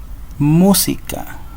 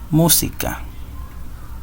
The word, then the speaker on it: música: tildarse estas sílabas tónica tenemos por acá la palabra música música hace mayor fuerza de voz en la sílaba música otro ejemplo es la